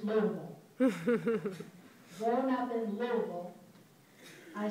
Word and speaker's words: Louisville: For those not from Kentucky, it's spelled Louisville. Those of us born and raised there, it's Louisville.